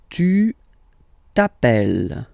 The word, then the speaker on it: tu t'appelles: All right, second form, tu t'appelles. Okay, remember, final s not pronounced. Tu t'appelles.